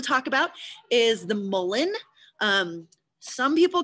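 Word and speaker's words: mullein: So I call it mullen. You can practice saying that, mullen. I meant to write how it's spelled, M-U-L-L-E-I-N.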